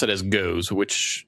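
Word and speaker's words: Gose: So Google pronounced it as goes, which it's a German goes. G-O-S-E, not goose.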